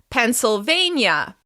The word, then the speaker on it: Pennsylvania: Moving on, Pennsylvania. Pennsylvania. The stress will be on the third syllable. Pennsylvania. Pennsylvania. Pennsylvania. If you ever feel a little stressed when you see a long word like Pennsylvania, try to identify the stressed syllable.